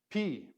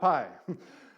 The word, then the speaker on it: Pi: like a lowercase o the next letter is P not pie it ruins Pi Day but Greeks don't say pie I was telling a